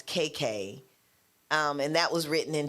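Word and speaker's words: Qai Qai: And then Serena Williams, The Adventures of KK, it's spelled Q-A-I. So I think that's KK.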